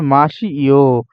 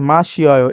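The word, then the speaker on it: 마셔요: কফিরুল মাসি ইও, মাসি ইও হবে না, মাসিয়ও মানে কফি পান করি। দেখেন মাসিয়ও কোথায় হবে? এই যে দেখেন বানানটা কেমন হবে? দেখেন শিয়, শিয় হবে, কিন্তু এখানে শুধু সি দিছে। ঠিক আছে? মা শিয়য় এইটা হচ্ছে কারেক্ট, মা শিয়য়।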